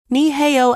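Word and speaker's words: 你好: Bradley mispronounced it, mangling the tones. The room laughed softly, a gentle, understanding sound. Lucia didn't mock. She corrected him gently. Asterisk. Niheo asterisk. Push the breath from your diaphragm.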